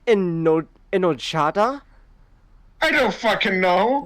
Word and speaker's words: enojada: Did you say enojada? I don't fucking know. The J is pronounced like an H.